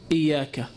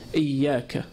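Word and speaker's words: إيّاك: So you can see the ya has a shadda. So we need to emphasize on it. So someone might say, iyaka, without the shadda. But we should say it with the shadda. We should pronounce the emphasis, iyaka.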